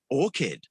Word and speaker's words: orchid: pronunciation thing would be orchid which is not pronounced as uh ch if i'm not mistaken uh wait i have it here because as i said i'm terrible with plants so i don't even know orchid yes orchid so with um as if it were like a k right i don't know